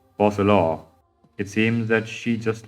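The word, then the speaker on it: Focalors: Oh, so the S is silent. Fossilor.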